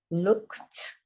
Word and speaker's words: looked: Looked. This one sounds like it's got a T on the end, but it's got this here. ED. It sounds like a T, so that is also a tricky word.